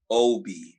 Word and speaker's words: Aalborg: Aalborg, and it's pronounced OB. That's what the AAB is.